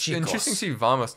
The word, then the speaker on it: vamos: Interesting to see vamos, not vamanos. Is it pronounced like with a B or a V? I'm dead serious. It's kind of in between. It's the in-between. Vamanos. It's more B.